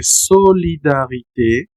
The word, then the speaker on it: solidarité: como el caso de solidarité, solidarité, solidaridad, fraternité. Fraternidad. Si ustedes observan, básicamente lo que estamos haciendo es pronunciar la e solidarité fraternité, primer uso.